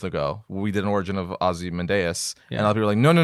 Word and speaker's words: Ozymandias: Watchmen is currently TV series oh oh yeah Ozymandias Ozymandias there we go Simon day but a lot of people say Ozymandias Ozymandias Ozymandias I mean I say Ozymandias that's